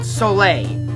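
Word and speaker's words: Soleil: I know it's I know I know it's pronounced solay town I'm in French class it literally translates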